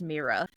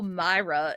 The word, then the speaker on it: Mira: It's pronounced Mira. But like everyone's like, oh, Myra. And I was like, no. No, not.